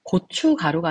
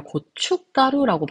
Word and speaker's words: 고춧가루: 간판입니다 그리고 다음으로는 고추가루인데요 고추가루가 아니라 고춧가루라고 우리가 발음을 하잖아요 그래서 고춧가루가 되어야 합니다